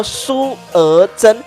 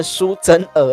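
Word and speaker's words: 苏娥珍: 名呢叫做苏娥珍，我昨天念成苏真娥了哈，先跟你说声抱歉哦。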